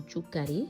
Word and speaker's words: Thiou curry: fois-ci une recette sénégalaise le tou curi ou touari hein si je veux bien prononcer en sénégalais en wallof donc voilà bienvenue si